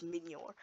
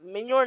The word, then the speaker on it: Mjolnir: One is the Hulk Smashers, and one is Minyor. It's pronounced Minyor, not Minyor.